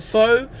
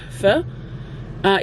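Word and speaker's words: phở: if you don't know what f is people pronounce it faux the correct pronunciation is f uh it's a it's a Vietnamese soup and I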